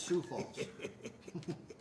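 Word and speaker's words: Sioux Falls: it's called yep soie no it's not soie it's su falls that's how it's pronounced then I got to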